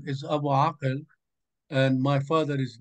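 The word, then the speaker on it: Abu Akel: Okay, so Abu Akal is the way you pronounce it, sort of American. Yeah, then you know, unless you're Arabic and know how to do ah, it's you don't know what you're talking about.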